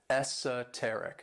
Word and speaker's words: esoteric: And this word has 4 syllables, and the stress is on that third syllable, esoteric.